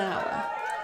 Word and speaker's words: hour: exceptions to the rule because it has a silent h so well done and